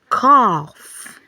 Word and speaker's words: cough: So when you have GH after a short vowel and it's ending the word, it's going to take the letter F sound. So we have examples like cough, laugh, rough, tough.